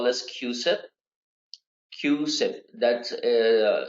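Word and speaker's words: CUSIP: the next one is what we call this q-sip q-sip that it's pronounced it's c-u-s-i-p but it's pronounced as q-set and this stands for committee for uniform securities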